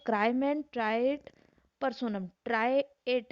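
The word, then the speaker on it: trahit: ट्राइएट है, ट्राइएट है ना, एच साइलेंट है इसके अंदर।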